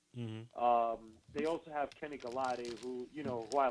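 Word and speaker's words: Golladay: It's Galladay. Yeah, I said Galati. Oh, Galladay? My bad. No. Galladay, man. Say Galladay like Holiday Inn.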